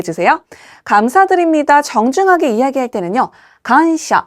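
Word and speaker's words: 感謝: 간샤 한국어랑 발음 동일합니다.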